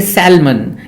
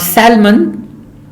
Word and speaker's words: salmon: Now often people say salmon, it's a kind of a fish, and almond, it's a nut, but it is not almond, it is almond, and not salmon, it is salmon, yolk, bum, salmon, almond, talk, calf.